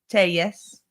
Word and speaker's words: Telles: tus we learned yesterday that is how to pronounce it Tes and uh Mr tus will rejoin us on